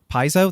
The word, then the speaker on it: Paizo: publisher behind that is called peso Piezo that's how you pronounce it and they put out